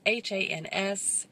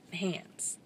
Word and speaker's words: Hans: his name is spelled H ans and it's Hans not hands these are your Amiens